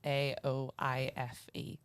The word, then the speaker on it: Aoife: It's at, but my name is spelt very different to how it's pronounced, so it's Aoife.